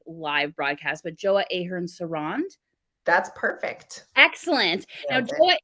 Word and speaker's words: Joa Ahern-Seronde: um I'm sure I don't like say your name wrong on like live broadcast but joa Ahern sarand that's perfect excellent now what is an incredible